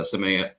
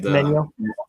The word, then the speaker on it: Semenyo: Especially being down one nil to begin with with the Semenya. Semenya I cannot say his name. Semenyo. Semenyo. Semenyo. Thank you. I always want to put like an extra N in there.